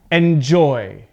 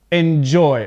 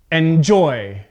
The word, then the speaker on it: enjoy: receive forget okay so with verbs the stress is on the second part of the word now i'm going to pronounce it correctly and incorrectly so you can hear the difference okay so enjoy enjoy okay so that's